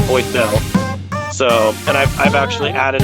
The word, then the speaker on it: Boysel: Z, it's Boysel.